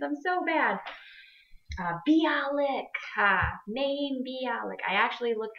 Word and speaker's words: Bialik: I'm bad at pronunciations. I'm so bad. Bialik.